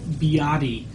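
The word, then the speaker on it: 比亚迪: Biati. It was a very, very popular brand, known more in the Western world as BYD, which is actually pronounced Biati.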